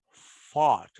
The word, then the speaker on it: fought: The past participle forms of some irregular verbs made with the combination A, U, G, H, T or O, U, G, H, T are usually pronounced with O. For example, fought.